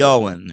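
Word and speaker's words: Ioan: Yoan, is it Ian or Yoan? I don't know how you It's really say it. Yoan.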